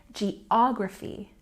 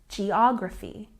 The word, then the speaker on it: geography: economy economy and here stress on this vowel Big O here to show you geography geography once again geography and down here at